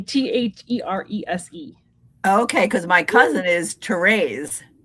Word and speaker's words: Therese: And this is the lovely Therese Cranston. And that is her channel name at Therese Cranston. It's Therese. Oh, Therese. Yep, just an E. Therese.